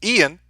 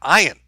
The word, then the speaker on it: Ian: BOC R faves also it's pronounced Ian not ayan like how you said last time I apologize